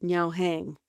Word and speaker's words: Haing Ngor: CeCe just pronounced No's name correctly the way Cambodians do. Yao Hang. I've been using the westernized version.